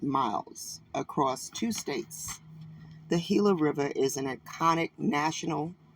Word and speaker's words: Gila: right let's talk about the Gilla river right the hila river right guys sounds like the